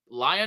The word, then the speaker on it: Leon: little bit by uh lion is how you say Leon lion lion yeah it's